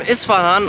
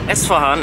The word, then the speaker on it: Isfahan: Salam from Isfahan, or Esfahan as the locals say.